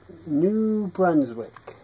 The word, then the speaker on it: New Brunswick: New Brunswick.